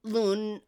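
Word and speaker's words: Lune: The women we spend most most of the time with are Seiel and Lun A. They say Lun even though it's spelled Lon.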